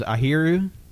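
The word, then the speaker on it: あひる: it apparently apparently Defan word for duck is airu how do you spell that a h i r u okay we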